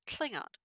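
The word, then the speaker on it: tlhIngan: So in Klingon, this sound tl is spelled TLH, and the word for Klingon is Klingon. You'll notice, by the way, that the I is uppercase.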